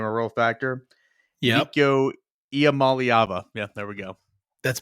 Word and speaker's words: Iamaleava: Can you give me a great pronunciation of his last name? 5-star Iamaleava. Iamaleava.